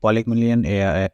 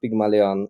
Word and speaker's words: Pygmalion: So let's talk about Polymillion AI a little bit Yeah. more, right? What are you trying to achieve, and what are your goals in that? So in it's pronounced Pygmalion AI.